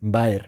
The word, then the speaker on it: Baer: que o sea, pronuncia igual que oso en inglés, pero se escribe con la A y la E invertidas. Baer.